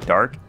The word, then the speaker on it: DARQ: It's called Dark, but it's spelled D-A-R-Q.